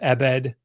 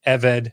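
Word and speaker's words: עֶבֶד: transliteration, which is why everybody calls this an ebed, because it's EBD in the transliteration. But the word itself is the beta spirantai, so it's actually pronounced eved.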